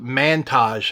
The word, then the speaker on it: Mantage: It's called Mantage, I guess, like Montage, but spelled with an A.